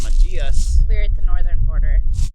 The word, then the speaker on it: Machias: At the other border, it's pronounced Machias.